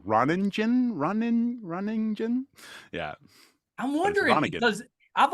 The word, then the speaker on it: Ronningen: biggest fear is mispronouncing that silent n on my third one is is tough for people runningen running runningen yeah I'm wondering because